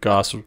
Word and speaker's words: Gosse: amazon it's gross goss without the r goss rhymes with sauce smells like boss g-o-s-s-e some people call me